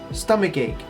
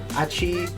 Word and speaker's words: stomachache: Next word we have is stomachache. Stomachache. Stomachache. Sometimes the match and the ache kind of gets a little confusing. Pronounce the word very slowly. Stomachache. Ache. Achi. Stomach. That's not how you say it.